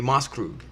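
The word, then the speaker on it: Maßkrug: Oktoberfest drinking that is actually called a a mas Krug or a Moss for short okay and what's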